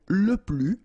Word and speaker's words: les: form Le okay so keep in mind that I don't pronounce it this final s here so we get le le okay and then